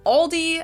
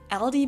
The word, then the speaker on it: Aldi: In Germany, we call stores like Aldi or Lidl discounters because they sell groceries for very low prices. In English, people usually pronounce this Aldi. I think I've also heard Aldi before, but I say Aldi.